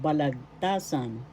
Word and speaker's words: Balagtasan: And number 2, we have Balagtasan. Balagtasan, named after Francisco Balagtas. Balagtasan. First syllable ba, second syllable lag, third syllable ta, fourth syllable san. The third syllable is where the accent is.